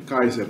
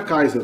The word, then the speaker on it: Kaiser: No alemão a pronúncia se congelou aqui, não evoluiu mais, ficou sempre Kaiser, né? A pronúncia provavelmente em latim era Kaiser também.